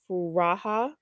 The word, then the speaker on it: Furaha: who's my age and her name is Kenya furaha I think that's how